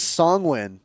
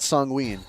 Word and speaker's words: Sanguine: It is Songwin, not Songween.